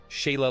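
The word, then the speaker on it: Sighle: E Sigel, pronuncia-se Sheila Lancaster.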